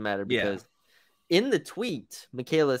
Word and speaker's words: Michaela: Man, I'm not gonna be able to pronounce that first name. Michaela, that's how you say it.